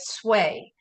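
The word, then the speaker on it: swai: That usually happens with sway. I think it's spelled S-W-A-I, and you want to be particularly careful about that fish.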